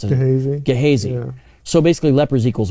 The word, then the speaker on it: Gehazi: I always mispronounce it. Gehazi.